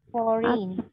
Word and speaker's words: foreign: টাইমের পরে where a তারপরে where a foreign এই জিটা উচ্চারণ হবে না, ঠিক আছে? ফরেন।